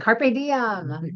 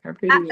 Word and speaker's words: carpe diem: Carpe diem. That's right. Absolutely. Carpe diem. Spell that, Tim. So seize the day, Mary. Is Got it. Is I'm all that over that. CARPA? DIEM? CARPE DIEM.